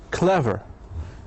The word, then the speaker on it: clever: However, the second rule is that most two syllable adjectives, they have the stress also in the first syllable like the word clever.